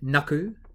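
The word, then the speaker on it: nāku: instead of it being naaku it would be naaku okay so it just means that you hold on to that vowel sound to make it a little bit longer it's called a macron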